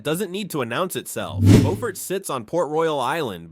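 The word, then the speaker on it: Beaufort: Bowfort sits on Port Royal Island between Charleston and Savannah. Pronounced BW Fert if you're local and BOE Fort if you're about to get corrected.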